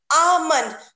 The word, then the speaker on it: almond: the next pronunciation is almond almond not l should not pronounce in this word the next word is